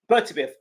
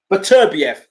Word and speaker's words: Beterbiev: Bertibiev. I can't pronounce his name wrong. Beterbiev. Got it right.